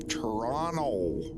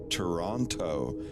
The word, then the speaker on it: Toronto: And everyone's like, you're supposed to, like, Canadians say it like Toronto. You don't flatten the T.